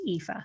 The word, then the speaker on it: Aoife: don't you exactly exactly so it's spelled AO i f and it's pronounced epha so epha wonderful thanks so much